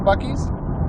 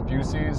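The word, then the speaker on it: Buc-ee's: Have you been to a Buc-ees?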